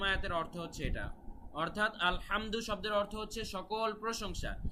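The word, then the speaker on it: الحمد: অর্থ হচ্ছে সকল প্রশংসা কিন্তু আমরা যদি এখানে আলহামদু না বলে আলহামদু বলি নরমাল হা বলি বাংলার মত হ আলহামদু এভাবে যদি বলি আলহামদু না বলে গলার ভেতর থেকে না বলে যদি হামদু নরমাল হা বাংলা হ এর মতো বলি সেক্ষেত্রে অর্থটা মারাত্মক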